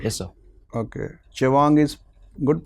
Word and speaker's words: Chewang: Chewang is good pronunciation?